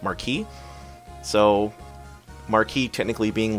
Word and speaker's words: Marquess: here so Marquess it's not actually Marquess I learned it's pronounced Markie so Markie technically being